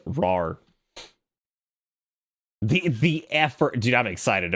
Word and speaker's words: RAR: I feel like it's one of those things that's like, yeah, because I always said WinRare, I guess. Whatever. But I suppose phonetically it is RAR.